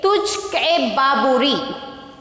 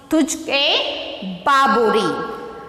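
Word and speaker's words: Tuzuk-i-Baburi: It is, how to pronounce this? Travelogues. And next you see here, T-U-Z-U-K-I-B-A-B-U-R-I. And okay, T-U-Z-U-K. Tujhke Baburi. Tujhke Baburi.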